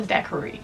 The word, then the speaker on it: daiquiri: Never knew how to pronounce it, but apparently it's a daiquiri.